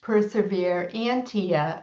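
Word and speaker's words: Perseverantia: which in Latin is pronounced Persevere Antia Mhm.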